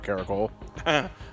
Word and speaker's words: Karak: I gotta drop a Karako. Are you pronouncing it right? Because there's like an umlaut or something like that in there. It's not Karako, it's Karak, which is a drink.